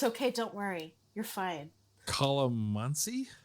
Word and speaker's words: calamansi: And so this is another watch Scott butcher pronunciation. It's okay. Don't worry. You're fine. Calamansi? Calamansi.